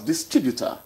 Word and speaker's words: distributor: You're not pronouncing it as distributor, which the Englishman calls it. His own is stress-timed. Yours is tone-timed.